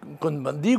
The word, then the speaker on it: Cohn-Bendit: européen c'est pas moi monsieur cohn-bendit qu'on vend 10 puisqu'il y sommes en france on prononce à la française et bien lui nan